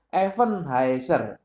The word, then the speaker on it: Eben-Haezer: Sebetulnya artinya secara literal ini Eben Haezer dalam bahasa Ibrani kan sama aja, tetapi membacanya berbeda. Yaitu Even Haezer. Even Haezer. Pakai V ya.